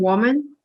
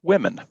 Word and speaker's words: women: The pattern was quite different among women. Only about pronounced women. Women. Sorry. The pronunciation does not match the spelling at all.